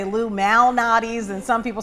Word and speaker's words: Lou Malnati's: Some people in Chicago say Illuminati's, and some people say Illuminati's. What is the name? Illuminati's. Got it. So you pronounce that L.